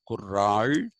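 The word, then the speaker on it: குறள்: the idea of a kural kural actually you have to really roll the r in uh when you pronounce it the tamilan way it is Kur there is not La sound kural so tiu is also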